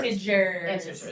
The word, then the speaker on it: integers: Integers. Yes. Soft g integers.